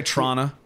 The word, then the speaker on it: Toronto: Lea let's go baby we drop the second T and we know who's foreign based off of how they say it or or we'll say Trana okay do you know